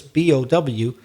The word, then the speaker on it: bow: But then if I change the pronunciation, but still with the letters B-O-W, but I say bow, different pronunciation, bow, that is a pair of tied loops. So when you tie your laces, you usually tie them in a bow, like a circular shape. That's a bow.